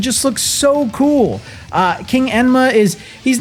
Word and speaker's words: Enma: Yenma. I'm going to say Enma because that's how they say it in Japanese.